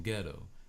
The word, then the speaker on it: ghetto: the GH as in ghetto. But in English, you don't pronounce the H in ghetto. It's just GE.